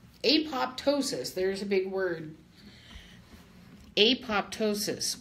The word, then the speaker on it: apoptosis: there's a big word apoptosis what is a pape tow sis and I like to say it like that because I want people to understand it and be able to remember that word it's a fun word